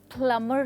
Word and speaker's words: plumber: प्लम्बर नहीं, प्लमर कहते हैं। तो यानी कि बी की जो साउंड है वो है साइलेंट, तो आप कहेंगे प्लमा।